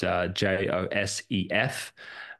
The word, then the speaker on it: Josef: Josef on YouTube, but it's spelt in the German way. So it's Josef.